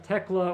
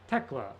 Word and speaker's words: Thekla: I think it's pronounced Tekla. Thekla. It's Austrian.